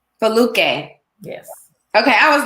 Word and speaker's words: Foluke: And please pronounce your name for me because I want you to say it. Absolutely. It's Foluke. Foluke.